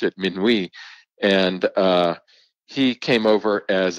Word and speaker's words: Minuit: come over he was we Americans traditionally pronounce his name minuet as you did he was French background and would have probably pronounced it Minuit and he came over